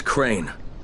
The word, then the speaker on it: Crane: My name's Crane. Crane? Crane rhymes with train and brain and same and grain and rain and plane and the other kind of plane and and but can I come in?